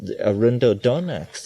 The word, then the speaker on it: Arundo donax: So it's possible that Arundodonax and Pergamon harmala would yield an interesting... Say that again. You spell it?